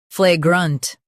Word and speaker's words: flagrant: Flagrant. Emphasize flay and soften grunt. Flay. Grunt. Flagrant.